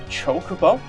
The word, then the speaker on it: Chocobo: where we get a Chocobo from, but it's pronounced Chocobo, probably due to like how Japan pronounces like syllables and that.